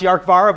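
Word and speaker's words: Dearcmhara: called the arc vara doesn't look like it's pronounced York var but it's a Gallic name and so interesting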